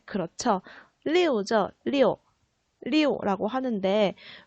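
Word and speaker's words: 六: 리오죠. 리오라고 하는데 왜 리오라는 숫자를 좋아하냐면은 바로 때문입니다. 발음 때문에. 자, 이 리오라는 숫자는 어떤 단어의 발음과 비슷하냐면은 흐르다라는 리우와 발음이 비슷합니다.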